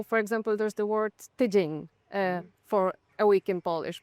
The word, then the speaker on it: tydzień: different form, which is tydzień, tygodniu, but also the stress changes. Tydzień, the stress is on the first syllable. Tygodniu is on the second because you add something else.